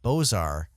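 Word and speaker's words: Beaux-Arts: point out that uh the bozar style uh it's french it's spelled b-e-a-u-x-a-r well there's dash a-r-t-s and the second empire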